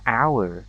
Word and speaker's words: hour: យ ើ ង អ ា ន ថ ា hour ដ ោ យ ស ា រ h ន